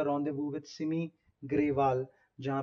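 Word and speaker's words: rendezvous: ये जो वर्ड है रेंडेजवोस, है ना, इसकी प्रोनाउंसिएशन है रॉन्डेवू।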